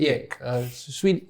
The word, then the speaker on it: Ek: If I can pronounce it correctly, Daniel Ek. Yes, Daniel Ek.